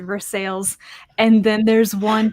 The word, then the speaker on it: Versailles: Versailles no not it you can't call it anything else you have to pronounce it Versailles and then there's one